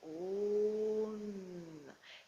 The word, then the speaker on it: Om: souffle, vous prononcez le Om. Il y a bien la nuance entre le O et le M, bouche fermée. Presque autant de temps le O que le M.